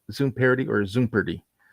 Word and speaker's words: Zoompardy: How is this Zoom party? So it's like like Jeopardy. So party right from Jeopardy. Just take the geo out and put Zoom on there.